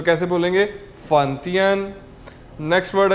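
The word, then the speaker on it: 饭: है जी हमारे पास word F ए एन फन फन का मतलब क्या होता था खाना फूड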